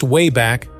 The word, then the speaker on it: Wayback: Peabody and Sherman would use their time machine, called the Wayback, pronounced Wayback, machine, to visit various historical events and interact with famous historical figures.